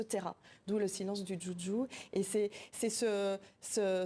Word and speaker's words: juju: de la BD le silence du joujou parce que et non pas juju comme j'ai prononcé ouais c'est ça mais c'est euh ça vient du du mot ça viendrait du mot joujou en français joujou euh en fait